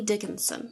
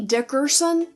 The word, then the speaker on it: Dickerson: your maiden by Melanie Dickinson now Melanie Dickerson cuz I said it wrong a minute ago is a